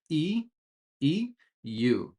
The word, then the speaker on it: EU: We try to pronounce every letter in these acronyms. So CEO and in this one European Union EU which sounds like this e EU like the word you eu eu counter measures.